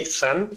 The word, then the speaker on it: Ason: It's a little bit tricky, so I'll just say A son. It's like a J with Jason without J, I usually call it.